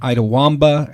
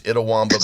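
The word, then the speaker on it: Itawamba: Rivers Classic with wins over Trinity Valley and Idaw Womba. Am I pronouncing that correct? Actually it's Idawwamba but that is a tough one to pronounce.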